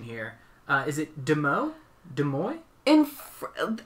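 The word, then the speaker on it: Demoux: uh is it demo de moy in fr i always give it the french pronunciation which sounds weird in english but in french it would be the move right yeah okay so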